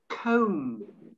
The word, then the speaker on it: comb: Comb, see, there's no B pronunciation at the end of comb.